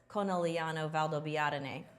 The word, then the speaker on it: Conegliano-Valdobbiadene: a quick video to show you how to pronounce Conegliano-Valdobbiadene. Prosecco. Okay. What are we seeing right here and how does it impact the style of Conegliano-Valdobbiadene?